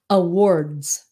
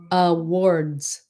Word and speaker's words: awards: Awards. Awards. Awards. Awards. Maybe it's different because there's an RD at the end and an S.